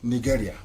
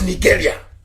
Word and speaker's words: Nigeria: Nigeria.